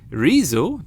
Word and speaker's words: Rezo: Rezo, that's his name, yes, he's pronounced in the English way, created this video called The Destruction of the CDU, the party of Merkel.